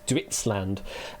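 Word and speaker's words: Duitsland: We had Deutsch land earlier from the German Duitland. Similar sort of uh style of pronunciation, similar sort of root or is this completely made up? Ditland. Yes, this is the Dutch for Germany is Ditland.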